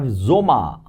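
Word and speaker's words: Sommer: Then we have zoma.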